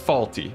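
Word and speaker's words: Fawlty: It's pronounced faulty.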